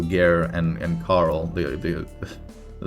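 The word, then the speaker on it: Gaer: the show I mean it's spelled Guyer g-a-e-r um so gear and and Carl the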